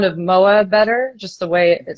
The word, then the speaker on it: MØAA: introduce yourself yeah sure the project is called moa that's how it's pronounced um it's like an abstract name not